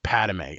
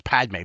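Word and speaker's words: Padmé: the destiny stream about padame I know it's Padme Padme but for some reason I don't know why I say padame I add an extra syllable in there I don't know why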